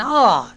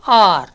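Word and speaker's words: hour: Examples: an examination, E; an exercise, E; an R. என்ன சார் H வந்திருக்கு, நீங்கள் an போட்டீங்கன்னு கேட்கலாம். இந்த H is silent. அப்போ எப்படி உச்சரிக்கும் பாருங்கள், சவுண்ட்ஸ் லைக் R.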